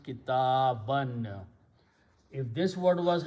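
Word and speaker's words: كِتَابًا: fathas or zabar, and we write an extra alif which is not pronounced. So the word becomes kitaban.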